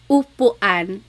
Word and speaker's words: upuan: And then letter U is an U sound. U. So ulan, upuan, rain and chair, u.